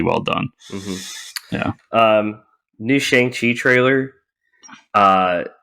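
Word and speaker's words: Shang-Chi: reveal is that um we are all mispronouncing chiang chi because it's shang chi oh shang shi yeah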